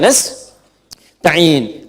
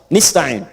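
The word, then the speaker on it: نستعين: Iyaka na'budu wa iyaka nastain. Ada yang baca pakai kasrah nistain ya. Nistain ini bacaannya dari bani Asad, Rabiah, dan Bani Tamim. Tapi kita baca harus menggunakan fathah kalau untuk kita ya.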